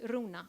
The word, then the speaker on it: Runa: but my name is Runa are you na and you have to roll your R's no I'm coding and